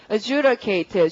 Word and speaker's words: adjudicate: 그 다음 단어 발음은 adjudicate. 주드의 강세 넣고 내용은 되게 쉽죠.